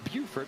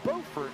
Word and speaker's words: Beaufort: South Carolina is Beaufort, but there's also a Beaufort, North Carolina, but they're now pronounced the same.